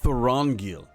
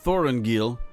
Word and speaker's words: Thorongil: Oh, Thorongil, not Thorenil. Thorongil, because you know, you need to put the right emposus on the proper syllable.